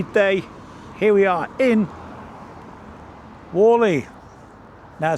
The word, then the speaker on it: Whalley: lukewarm but sunny day here we are in Wallally now spelled wh a w e y wally but it's pronounced Walle up from Charlie Beach anyway let's have a